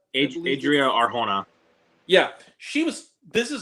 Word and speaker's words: Adria Arjona: I forget how to pronounce this woman's name, but it's like Audra Arjona. Is that Adria Arjona?